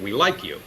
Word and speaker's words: Well IQ: healthcare world and then depending on if you want to pronounce a different way you could also pronounce it we like you and so again recognizing